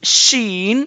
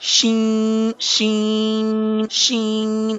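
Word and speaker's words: شين: letter correctly but remember you cannot sound this letter with the nasal sound like shin shin so this sound is actually wrong sound so you have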